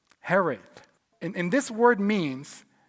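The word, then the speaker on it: hiraeth: I think I think the word is pronounced something like this is going to be brutal. Herith. Herith.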